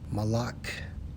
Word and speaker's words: Molech: Molech in the Hebrew, Strong's H 4432, pronounced as Malak, which means what?